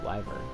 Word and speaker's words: wyvern: It's wyvern.